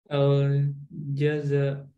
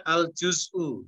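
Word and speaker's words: الجزء: Al-jaza. Itu bacanya al-juz'u, juz.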